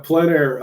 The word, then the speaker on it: plein air: Does Jim ever work plein air? I don't know how to pronounce that either. Yeah, plein air.